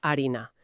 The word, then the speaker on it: harina: Pues muchas palabras que hoy empiezan por esa h muda originalmente empezaban por una fte. Ah, ostras. Claro, piensa en la palabra harina, viene del latín farina o el verbo hacer, que viene de fachere. A lo largo de los siglos, la gente simplemente dejó de pronunciar esa f.